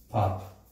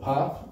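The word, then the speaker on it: पाप: sin do you know the word for sin pop p-a-p-a so pop means sin and punia means pious activities so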